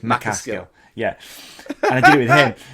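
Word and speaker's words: MacAskill: I say Danny McCaskill, but it's McCaskill.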